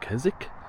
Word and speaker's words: Keswick: That down there is where I'm staying, the town or the village of Keswick or Keswick, as it's spelt. People call it Keswick.